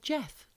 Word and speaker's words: Gef: be a talking mongoose called jeff hi jeff it's spelt g e f he was small with